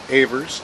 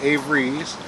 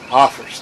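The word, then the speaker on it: Avers: Jason J a verse most people pronounce it a verse not Avery's there's no y in there now my great-grandfather would have insisted they pronounce it office because it's originally a German there's a significant meaning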